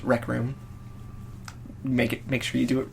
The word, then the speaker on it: RKRM: It's a beautiful acronym of all of our last names, RKRM, pronounced Rec Room.